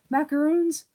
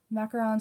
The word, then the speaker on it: macarons: The problem is that a lot of Americans pronounce them the wrong way. So that's why like a lot of people call macarons macaroons, and it pisses me off because they're not.